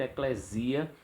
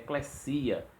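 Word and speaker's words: ἐκκλησία: E nós temos, por exemplo, o pessoal usa muito eclesia com som de Z, mas aparece lá um sigma, então tem que dizer eclesia, só para vocês terem uma ideia.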